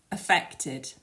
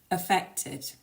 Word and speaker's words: affected: being clearly understood is getting that stress on the second syllable and make sure that you pronounce that third syllable so try saying these after me affected affected and the second one